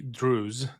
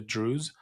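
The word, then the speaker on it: Druze: out of Israel of about a thousand Israeli Drews, this is a community of people, I'll spell it out because it's hard to to get it sometimes. D R U Z, the Drews, who are going into Syria apparently to go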